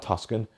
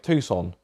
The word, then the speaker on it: Tucson: what yeah I drove the Tuscan no not Tuscan - sand whatever it's called I can never living pronounce it right no Tucson Tucson I think the best eveyone saw oh